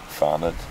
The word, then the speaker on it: Fanad: Fanad. What? Fanad. Fanhead? Fanad.